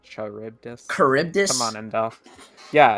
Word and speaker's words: Charybdis: Icarus being able to kind of take the lead over Charybdis in a debatably, well, most likely in a sense. Charybdis, not Charybdis.